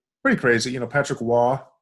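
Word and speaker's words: Roy: sudden death crazy pretty crazy you know patrick wah spelled roi but pronounced wall right um you know was perfect in overtimes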